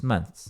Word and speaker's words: months: A pronúncia de months, month tem um som de TH no final. No plural, quando você bota o S, você pode falar months, TH, month, e depois o S, months, mas é bem comum